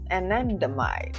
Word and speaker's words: anandamide: Anandamide, that's how you say it, is a neurotransmitter